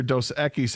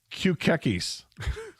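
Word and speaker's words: Dos Equis: My mother-in-law pronounces the Mexican beer dose ekis as cucis.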